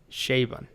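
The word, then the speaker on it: Chabon: written by edgar's or shaban i don't know how you say his name honestly that guy great author well i just googled it and apparently it's pronounced shay bun so select all books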